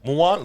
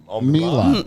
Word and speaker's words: Milan: Um, Mulan. Mulan. Like, no. Well, that's where most people go is Mulan, the Disney movie. But it's not. It's Milan with an I, like the city in Italy. Oh, Milan.